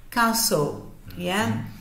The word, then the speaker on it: castle: a palavra Castelo né você vai esquecer da letrinha T não pronuncia ela falar caçou fazendo